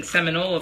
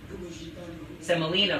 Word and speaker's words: semolina: Again, we're using seminola flour. Again, I said that wrong. Semolina flour. I live in Florida where there's the Seminole Indians, which is why I'm mispronouncing the flour.